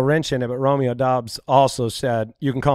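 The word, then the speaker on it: Doubs: us but if you go and listen romeo dobbs that's the name that's what he find he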